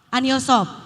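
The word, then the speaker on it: 안효섭: Dan baru-baru ini kan baru diselenggarakan juga Anhyosop ya, dibacanya apa sih Kak? Anhyosop.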